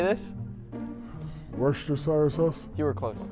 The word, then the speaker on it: Worcestershire: Worcestershire sauce? You were close. Worcestershire.